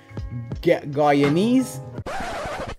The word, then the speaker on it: Guyanese: Guyanese. The proper pronunciation is Guyanese, people.